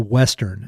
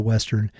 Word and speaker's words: Westrn: The name of the project is the Westrn, and that's spelled W-E-S-T-R-N, and it combines the best parts